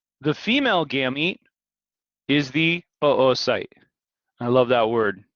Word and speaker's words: oocyte: female gamete is the oocyte i love that word it's literally two o's and it's pronounced oocyte not ooh sight because that'd be weird